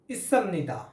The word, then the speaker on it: 있습니다: Friends, today we are going to learn one Korean pattern that is Isamnida.